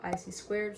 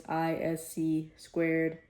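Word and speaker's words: ISC²: It's ISC squared. I keep saying IC squared in the video.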